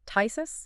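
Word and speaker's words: phthisis: in one fluid motion, the entire P-H unit drops out. It goes completely silent. So, you jettison the P and the H entirely, and that just leaves the T-H and the I-S-I-S. So, a 19th century doctor just called it thisis.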